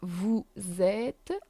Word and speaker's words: vous êtes: And we have vous êtes. We also use this when we're talking to a form of authority. It doesn't change that it's only one person. We still use the plural polite form. Vous êtes. Again, S isn't pronounced.